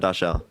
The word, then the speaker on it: Dashel: Do you agree with him, Dashel? It's pronounced Dashel, by the way.